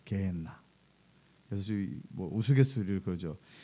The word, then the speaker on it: 게헨나: 예수님께서 말씀하셨던 지옥, 이것은 이제 게한나예요. 그래서 정확히 발음하면 게엔나예요. 게엔나.